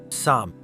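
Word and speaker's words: 삶: Yes, it's pronounced sam. Korean s is a softer version of English. S, more like sa. You might say samu, but that's hard to pronounce as one syllable naturally.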